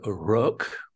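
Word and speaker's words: Rök: Well, the new album is comes from the word rock with an umlaut, R-O-umlaut-K, meaning it's old Icelandic word meaning destiny.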